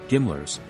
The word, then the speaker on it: GMLRS: system or gm lrs the gmlrs pronounced gimler's is an artillery rocket an explosive weapon